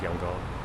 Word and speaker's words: Yangon: It used to be Yangon, or the way they used to spell it. Or no, Rangoon. Rangoon. Now it's Yangon.